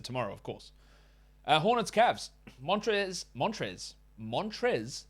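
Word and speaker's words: Montrezl: Montrez, that's how you say it.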